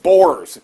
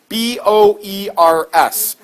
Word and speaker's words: Boers: We'll talk more about these people a little bit later in the class, but they're called Boers. B-O-E-R-S.